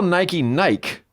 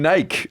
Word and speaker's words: Nike: guys call Nike?